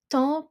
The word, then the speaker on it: temps: So, temps, PS at the end, silent.